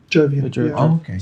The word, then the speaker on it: Jovian: that that Jupiter was it Jo if I pronounced that right? Yeah. Anything related to Jupiter is called Jovian. Jovian.